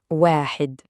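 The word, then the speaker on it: واحد: Et pour la prononciation, ça donne wahid.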